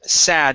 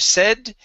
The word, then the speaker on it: sad: looks okay here okay sad instead of said it is sad all right give me a d sound there at the end instead of sat it is sad okay